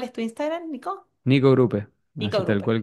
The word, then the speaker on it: Grupe: Grupe con dos P, Grupe con acento en la última E.